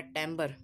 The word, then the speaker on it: Timbre: उसका नाम है टैम्बर. उसकी स्पेलिंग है TIMBRE विदाउट स्पेस TIMVRE.